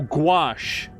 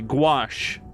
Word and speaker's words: gouache: to prep canvases and it's pronounced uh gosh like squash oh gouache okay gouache is the correction thank you yeah I